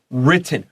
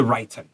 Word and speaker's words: written: But if we're in the middle and we got 2 T's or 2 P's or whatever, that's a short vowel written. 不是 written.